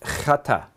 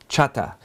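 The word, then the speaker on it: חטא: jewish people wear that you actually have to say it like you're going to spit and then say hi you know but it's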